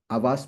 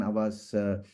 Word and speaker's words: Havas: organizations, and currently I am the CEO of Havas Media. Well, a very unique name because it is spelled as HAVAS, and I have not coined it.